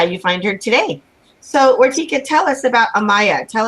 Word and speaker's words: Vartika: And her name is spelled Vartika, and we pronounce it Vartika, yes?